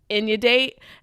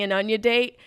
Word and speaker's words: inundate: was saying it right was inu date and i've been saying an onion date and that's just because the way i read it and then i got